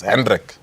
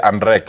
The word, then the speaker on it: Hendrik: So when my parents said, they were asked the name and they couldn't say, no, it's Hendrik. So because my parents could not pronounce Hendrik, they say Andrek.